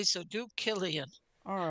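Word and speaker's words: Cillian: l i a n but it's not pronounced what you would think cyan I would say that the C is pronounced like a k so do Killian all right apologies to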